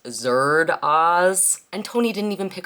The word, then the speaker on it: Zardoz: this movie you know that it should be pronounced Zer Oz and Tony didn't even pick up on that